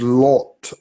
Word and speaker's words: Lot: I'm trying to say his name right, which is Lot. Law. It's that O is long.